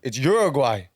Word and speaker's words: Uruguay: He was like, "It's Uruguay."